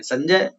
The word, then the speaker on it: संजय: बहुत से क्या बोलते हैं, नाम उच्चारण में क्या बोलेंगे? संजय। ये तो बोलते हैं, नाम किसी का संजय हो तो क्या बोलेंगे? संजय। पर नाम शुद्ध क्या है? संजय।